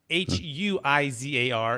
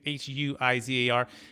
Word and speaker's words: Huizar: And by the way, you can find Huizar, and it's spelled a little different if you're listening, not watching this on YouTube. It's Huizar is the last name, Huizar.